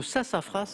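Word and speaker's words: sassafras: pour trois points favoris le sasafras avec un S qui se prononce à la fin quel quartier de Rio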